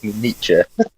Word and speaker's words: Nietzsche: Nietzsche. not Nietzsche. Oh It's not like- God, let's not bring up Nietzsche's name does not rhyme with itchy knee.